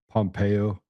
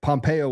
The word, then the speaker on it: Pompeo: hungry but um it rhymes with CIA. Yeah, I know. And but Pompeo was the head of the CIA.